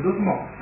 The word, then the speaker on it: dosmos: di imposta, in misceneva, scritto DOSOMO, si legge DOSMOS, un termine che non